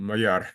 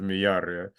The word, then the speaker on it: Mayar: Is it, how do you pronounce it? Miyar? Miyar? Miyar. Miyar. Okay, it's a lovely name. It's a bit different from Mayar. It's a Miyar, yeah.